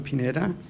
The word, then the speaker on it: Pineda: full name understood right my name is Pineda that's last name is spelled p-i-n-e-t has in David a um and